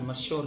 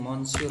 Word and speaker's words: monsieur: अगर अपने मश्योर की बात करें, मश्योर, हालांकि इसकी स्पेलिंग मॉन्श्योर होती है, MONSIEUR, ये मॉन्श्योर इसकी स्पेलिंग होती है, लेकिन बोलते हैं मश्योर होते हैं, इसका मतलब